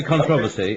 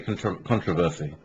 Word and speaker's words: controversy: In Britain we say controversy, and in America you say controversy.